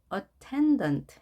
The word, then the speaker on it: attendant: 붉은색으로 표시한 모음이 제1강세가 되겠습니다. 제1강세의 특징은 강하고 소리가 높이 올라가죠. attendant 이렇게 발음을 해야 되겠죠.